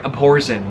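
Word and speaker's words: Abhorsen: the Amazon trilogy sorry up Orson that's how they pronounce it I used to think whoever's in cool it's like but it's like a play on the word abhor re Salvatore is timeless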